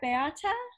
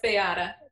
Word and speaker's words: Beata: And I think our next one is, am I pronouncing right, Beata? Correct. Bet. Okay. Bet. You get it right, Sarah. It's Beata.